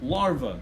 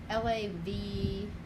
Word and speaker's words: larva: L-A-V-A-E, right? How do you spell it? The word is larva. It's a different word completely from lava.